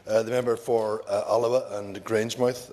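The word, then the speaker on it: Alloa: Uh the member for Alawa and Grangemouth as my colleague who's no longer here once referred to it as the member for Aloa Alawa and Grangemouth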